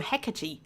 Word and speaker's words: Hecate: Hecate. More emphasis on the K and ending with an a sound.